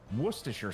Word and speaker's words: Worcestershire: Also, can either of you pronounce Worcestershire sauce?